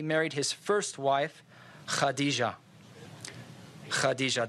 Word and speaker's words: Khadija: his first wife Khadija Khadija the KH will be pronounced ok if you can do that hadiza it's fun to say so she was 40